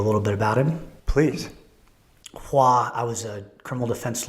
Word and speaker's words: Hoa: H-O-A is his first name, pronounced Hoa.